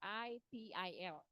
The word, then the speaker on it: ITIL: Bacanya kalau baca gitu aja nggak enak ya. Jadi harus pakai bahasa Inggris ya. ITIL.